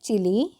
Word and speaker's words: चिल्ली: है एक दिन शेख चिली देखिए यहां पर दो अक्षर है आधा ल है तो भी हम यहां पर इसका हल्की सी उच्चारण लेंगे ठीक है देखिए मैं